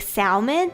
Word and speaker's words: salmon: is totally fine um there are many valid ways to pronounce salmon if you say the L like salmon that's totally fine it's really just up to your accent actually so uh people